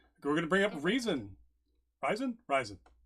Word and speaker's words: Ryzen: Also, it is pronounced Ryzen.